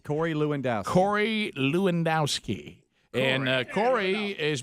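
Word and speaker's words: Lewandowski: know police car pack passion Rick to pronounce the last name of Trump's former campaign manag it's lowski leowski Cory leowski Cory leowski and Cory is being questioned by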